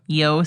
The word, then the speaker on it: Io: saturnalia was yo saturnalia yo saturnalia yeah it's spelled IO but it's pronounced yo interesting but people would